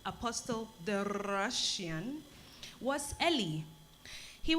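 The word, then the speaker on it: Apostol: Apostle, like the title? It's spelled A-P-O-S-T-O-L. Apostle. Means same thing.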